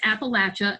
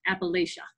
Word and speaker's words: Appalachia: Appalachia seeing hunger in Kentucky yeah they did pronounce it right it is Appalachia and not Appalachia all right so the Appalachian region is an